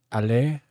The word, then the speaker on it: aller: Like, aller. Like, the R is not pronounced really at all in aller.